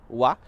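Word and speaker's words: は: nosso livro, mas basicamente essa partícula é escrita com a letra Ha, mesmo que ela seja pronunciada com o som de wa, mesmo que nós tenhamos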